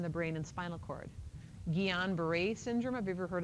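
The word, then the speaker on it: Guillain-Barré: Sometimes you have to sign that sheet when you get your flu shot and they'll ask you, "Have you ever had gon beret?" It's spelled kind of it's a French word.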